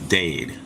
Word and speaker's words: Dade: It's Dade, like raid, Wade, or laid.